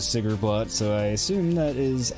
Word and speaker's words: Sigrblot: Mainly the, developer's pronunciation of it, which was Sigrblot, so I assume that